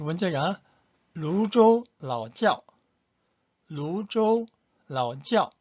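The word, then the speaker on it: 泸州老窖: 그 다음에 두 번째가 루조 라오지ao. 루조 라오지ao. 근데 지ao 할 때 지야오 지아오입니다. 짜오가 아니고 지치 발음이에요.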